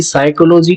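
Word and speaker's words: psychology: गौर करते हैं कि साइकोलॉजी को जो उच्चारण है वह स से शुरू होता है परंतु इसका जो लिखने का जो तरीका है वह पी से शुरू हो रहा है तो पी यहां पर एक साइलेंट वर्ड है प यहां पर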